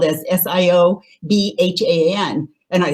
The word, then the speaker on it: Siobhán: can see she it's uh written spelled as s-i-o-b-h-a-n and i like how do we say that and but it's shivan so a beautiful beautiful name so anyhow um